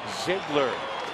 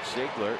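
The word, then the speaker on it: Ziegler: Rockies have out hit the Diamondbacks 1210 Brad Ziggler that's how you pronounce his name Ziggler is on for the 72nd time submarining right-hander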